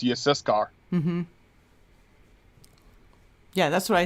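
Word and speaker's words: יששכר: and Yehuda, and Yissaschar, and Zebulun. Yep. Zebulun. Yep. And those names are hard. I'm telling you, like, a lot of people get Yissachar wrong. It's Yissaschar.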